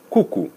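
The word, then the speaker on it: QQ: Oryginalnie mówi się na to boba albo kuku. Co jest ciekawe, w tamtejszym języku oznacza to po prostu rzuć. Kuku. Zapisuje się to jako 2 litery Q. Także świetnie wygląda, świetnie się wymawia.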